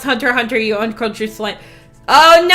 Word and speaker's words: Hunter x Hunter: watched Hunter x Hunter he pronounced the X in it and I told him it's pronounced Hunter Hunter you uncultured swi oh